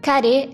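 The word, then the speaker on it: カレー: prato do dia carinhoso a cárie é a pronúncia japonesa de curry um alimento de origem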